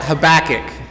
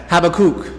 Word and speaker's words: Habakkuk: the first issue okay americans we want to call it habakkuk but specifically it's patricia's got it have a cook have a cook so